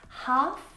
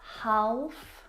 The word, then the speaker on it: half: silent letter L in them words like salmon not salmon half not half would talk walk all of these words have a silent l in them which makes them a